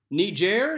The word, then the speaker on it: Niger: Niger, yes, that's how you pronounce it, has a tree called the Lonely Tree of Tenere.